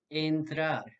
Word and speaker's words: entrar: However, if you listen closely, the vowel sound at the beginning of each word is slightly different. In English, enter. In Spanish, entrar.